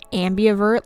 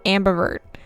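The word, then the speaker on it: ambivert: just want to point out that I said Ambi avert like six times that I had to cut out it is pronounced Ambert so Lena was right I was wrong okay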